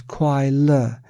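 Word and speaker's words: 快乐: Ordinary beings mistakenly perceive this entire process of changing feelings as happiness, pronounced as kwai le in Chinese. Kwai means fleeting and le means alleviation. Hence, it is called kwai le, happiness.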